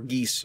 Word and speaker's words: geas: The band of adventurers are bound by a geas, or geese, I believe it's the proper pronunciation, to travel from the